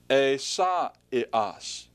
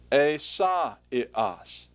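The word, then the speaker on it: Ἠσαΐας: and it's this word pronounced a saw it us a SOT it us what does that sound like a saw it us well that's the Greek word for Isaiah Isaiah now notice something there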